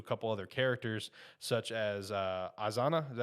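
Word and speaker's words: Izana: And as this arc goes on and you get introduced to a couple other characters, such as Azana, is that how you pronounce his name?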